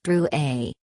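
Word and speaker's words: Drouet: and touching his name it's pronounced brew a our family was French on my father's side she looked at it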